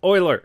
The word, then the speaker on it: Euler: would also know that the famous mathematicians name is pronounced Euler duh so he was